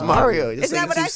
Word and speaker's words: Mario: y yo it's Mario can y'all say my name right it's Mario that's a New York Mario Mario all right you